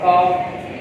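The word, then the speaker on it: calf: तो यहाँ पर जब F से पहले L हो या N से पहले L हो तो L अपनी साउंड को साइलेंट रखता है, काफ, हाफ, हाफ, पाम, पाम।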